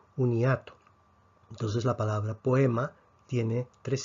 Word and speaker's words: poema: hoy forma un diptongo la respuesta es no no forma un diptongo porque son dos vocales abiertas entonces vemos que tenemos tres núcleos a la a le damos la m como ataque a la o le damos una p como ataque la e no tiene ataque y vemos entonces que la palabra poema tendría tres sílabas o qué aquí tenemos